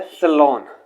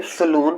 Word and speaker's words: salon: Next है सलोन। अगर आप इसे सलून प्रोनाउंस कर रहे हो तो that would be wrong. Actual pronunciation is सलोन।